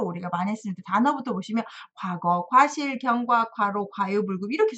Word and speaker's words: 過: 그래서 과유불급이다 이럴 때도 쓰는 과자가 여기에 있네요. 자, 삐뚤삐뚤한 일, 삐뚤삐뚤한 입모양, 삐뚤삐뚤 삐쭉삐쭉 하면서 잘못했습니다. 지난 나의 잘못한 일 허물입니다. 이렇게 외우시면 정말 좋겠습니다. 와 발음이 과가 됐어요. 주의 좀 하셔야 되겠습니다.